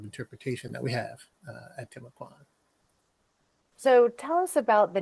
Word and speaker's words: Timucuan: Mukambo is also a term to utilize to identify that tribal group, and so there are various pronunciations, Timucuan or Timucuan, you also hear as well.